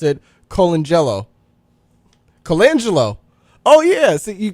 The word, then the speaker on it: Colangelo: mess up these names I'll spell it it's c o l a n g e l o and I pronounce it Colangelo Colangelo oh yeah so you got to say